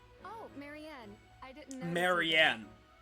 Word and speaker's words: Marianne: instead of feed oh Marianne I didn't know Marianne right that's how you pronounce that oats aren't enough but for a